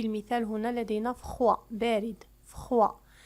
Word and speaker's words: froid: فخوا لا تنطق الدي. لكن عندما نحول الصفة إلى المؤنث فإننا نضيف أ وتصبح يعني الدي تنطق. مثال فخواد.